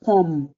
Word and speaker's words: pomme: Now, the poem is double M, dub M. So you can't just stop in the way you called it, made it like it's just one M. Je mange une pomme. You have to make that pomme, not je mange une pomme, making it feel like it's just P-O and one M. It's two M.